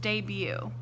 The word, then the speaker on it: debut: one is debut okay that t on the end is silent so this word is pronounced debut a performing artist is